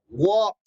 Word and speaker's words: walk: this repeat take take this is walk never pronounce el el no talk so repeat talk